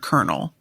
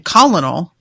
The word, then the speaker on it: colonel: I will never forget finding out how you say the word colonel. Because I never heard it read out loud. I was a kid saying colonel in my head when I read colonel, like in the army. I was thinking popcorn. I was thinking popcorn colonel.